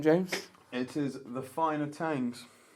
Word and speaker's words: Thangs: You spell it like Thangs, but the H is silent. It's actually kind of... Well, according to the board, blurred. it's smudged out, so maybe it's the finer Thangs.